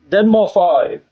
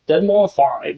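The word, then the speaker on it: deadmau5: Yes, it's Dead More Five. Dead More Five. I think that's how you say it. Dead More Five.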